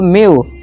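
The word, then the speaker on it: mew: जब किसी वर्ड में ई के बाद डब्ल्यू आए तो ई डब्ल्यू को यू से पढ़ते हैं। फॉर्मूला क्या बना, ई के बाद डब्ल्यू आ जाए, E plus W equal to यू का साउंड निकालना है, जैसे कि डी ई डब्ल्यू ड्यू, एम ई डब्ल्यू म्यू, फ्यू न्यू।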